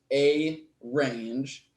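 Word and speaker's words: arange: Rand of them we also can play with the numpy version of range which is going to be pronounced a range very common mistake which I'm probably going to make several times in this course is to put in two RS but there is only one R and this is going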